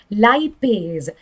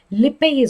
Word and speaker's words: lipase: okay right next one lipase lipase or lipase you can pronounce it however you want to it's an enzyme